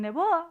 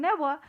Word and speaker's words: Néboa: non me dera conta, e a esdrújula costalles pronuncialo, entonces normalmente dicen neboa, e hasta que outro día chamábame de Cataluña e xa me dixeron néboa, foi porque esa persona